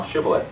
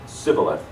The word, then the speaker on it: Shibboleth: If he said nay, then they would say unto him, say now Shibboleth. And he said, Sibboleth, for he could not frame to pronounce it right.